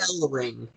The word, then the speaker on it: Ellering: Ellering.